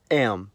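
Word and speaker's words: м: In the Cyrillic context, the letter's called am. It's used in every language that has the Cyrillic script, and the sound it makes is m.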